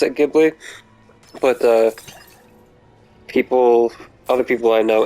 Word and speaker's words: Ghibli: seen the Ocarina of Time Studio Ghibli crossover fan-made film?